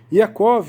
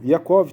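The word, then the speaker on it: יעקב: Iacov, Yohanan, Filipe, Bartolomé, Matitiarro, Tomá, né? Esse é o nome dos 12 apóstolos. No nome pronunciando em Israel, em hebraico, tá? Então vamos ler de novo. Iacov, Tiago, Yohanan, João, Filipe, né?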